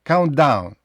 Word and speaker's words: countdown: New Year так countd Countdown якщо швиденько вимовляти Countdown не треба старатися вимовити і звук т і звук D привимові а просто так якби один звук countd ще ви можете почути